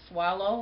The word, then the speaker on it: Swallow: last name but it's you pronounce it swallow like you're swallowing cuz when I first